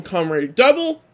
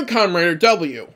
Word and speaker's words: Kamen Rider W: You can either call him Kamen Rider Double or Kamen Rider W.